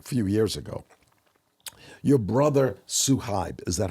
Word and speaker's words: Suhaib: Now, earlier, 2019, a few years ago, your brother Suhaib, is that how you pronounce it, Suhaib?